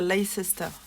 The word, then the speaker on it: Leicester: Blue Faced Leicester, en fait on prononce comme ça. Moi, il ne faut pas dire Leicester, c'est Leicester.